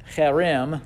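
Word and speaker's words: חרם: You see I have the Hebrew word cherem is how you would pronounce that.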